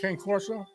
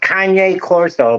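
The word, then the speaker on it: Cane Corso: there big do you never never heard of K Coro it's actually it's actually pronounced Kanye Coro but whatever very intimidating looking dog yes right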